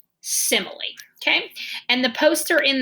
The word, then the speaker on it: simile: right it does look like smile but it's pronounced simile okay so I want you to say that three times simile simile simile okay and the poster in the reading room